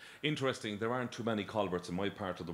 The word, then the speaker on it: Colbert: Well, people in Limerick will be given out to me for saying Colbert. They pronounce it Colbert.